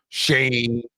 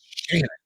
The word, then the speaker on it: Shannon: I don't know how many times you can pronounce Shannon wrong or how many ways, not times, ways, but I get my name mispronounced all the time. Shane, the fuck, man? How can you not pronounce Shannon?